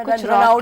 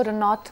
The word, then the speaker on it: Ranaut: तो मेरा जो पूरा नाम है वो रनौत करके प्रोनाउंस होता है, रनौत, 3 letter word, रनौत, नॉट रनावत। रन आउट भी नहीं है, और रन आउट भी नहीं है, क्या?